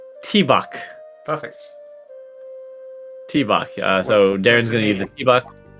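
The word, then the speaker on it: tŷ bach: The toilet is spelled T-Bach. Perfect. T-Bach.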